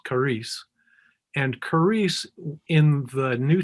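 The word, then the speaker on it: χάρις: They looks like XAPIC, but it's pronounced charis.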